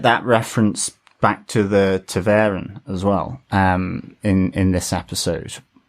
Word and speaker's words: ta'veren: Taveran. E-H-N. So that's how they pronounce it. Taveran.